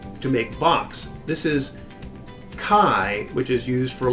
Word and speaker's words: chi: here, which is KS, a hard KS sound for chi. Now this one, which is actually chi, doesn't have an S on it.